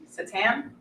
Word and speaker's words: seitan: This is technically called seitan. Satan. Seitan. How do you say it? Seitan. Satan, I've heard as well.